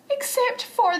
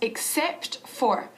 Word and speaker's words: except: And they had a discount on all the necklaces except for the one that I need. ¿Has visto? Decimos except for, pronunciando bien la P y la T al final de except.